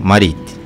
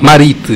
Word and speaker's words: Mariti: Abel Pires Máquina Marito. Ah, Marite, sim, não Marito, sim. Como estou a pronunciar. É Marite. Marite.